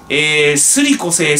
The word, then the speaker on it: 修理固成: すりこせいすりこせいって言